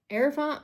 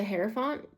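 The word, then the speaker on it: Hierophant: The pope or the herafant. I already I always say it wrong. It's the heropant.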